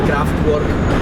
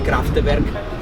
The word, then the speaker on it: Kraftwerk: l'altro ho scoperto adesso, io l'ho sempre pronunciati Kraftwerk, invece ho scoperto che si dice Kraftwerk.